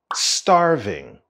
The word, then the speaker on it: starving: I'm starving I'm starving the stress of the word starving is at the beginning starving starving I'm starving I'm